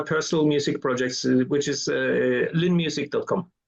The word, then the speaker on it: Lynne: actually is is it is it beond l in is that how you say it or is L that's that's correct in Norwegian we would say the at the end yeah I mean yeah